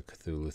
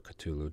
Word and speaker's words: Cthulhu: glimpse of the cosmos that sounds like a cthulhu thing or ctulu depend depending how you want to pronounce it each enemy discards